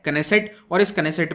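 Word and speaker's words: Knesset: जिसको कहा जाता है कंसीट तो देखिए कई लोग के को साइलेंट मानते हैं लेकिन इस साइलेंट नहीं है डी के हज तू बी प्रोनाउंस तो इसे कहते हैं कैन आई सेट और इस कनेक्ट में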